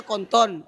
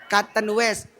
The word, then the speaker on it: Canton West: Oh, tulisannya konton tapi bacanya canton west.